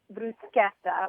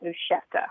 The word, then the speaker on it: bruschetta: But I always was taught that CH in Italian has the K sound, like zucchini and Chianti.